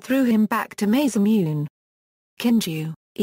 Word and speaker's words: Kinju: Kinju, Kinju, like Kogi, by convention is pronounced in Chinese.